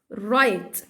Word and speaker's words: right: طيب لا ينطق إذا جاء بعده حرف ال R، زي كلمة right، مش ورايت، right.